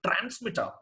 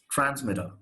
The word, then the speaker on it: transmitter: In fact, this is not even transmitter, it's transmitter. You don't take a strong pronunciation even for T.